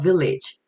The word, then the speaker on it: village: 그다음에 이제 village village 이때 약간 e 사ound드죠. village.